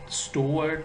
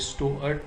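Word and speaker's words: Stuart: का नाम जेस हिल्टन स्टुअर्ट है। अगर हम अमेरिकन प्रोनाउंसिएशन में इसको साउंड करेंगे तो ये स्टुअर्ट बोला जाएगा, और अगर बरतानवी में करेंगे तो ये स्टीअर्ट बोला जाएगा।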